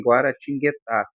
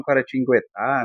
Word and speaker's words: Guaratinguetá: Muitos falam Guaratinguetá, né? É o pessoal de lá mesmo, mas em princípio é guaratinguetá, tá? Gua tem, né? Guá, ó, que eu tenho um encontro de consoantes o G U ali, tá?